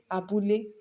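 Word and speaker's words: abúlé: But if you want to pronounce the same thing in Yoruba, you will say abule. That is, you are pronouncing all the syllables the same way.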